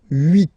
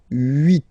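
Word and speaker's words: huit: Okay, then here final T is pronounced, so 8, 8. Remember in French this H letter here, okay, doesn't exist phonetically, so we don't really pronounce it, okay? So if you listen carefully, you will only listen or hear these vowels at the beginning of the word.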